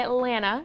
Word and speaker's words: Atlanta: I'm from Atlanta actually you can't pronounce both T's you have to say Atlanta oh yeah get that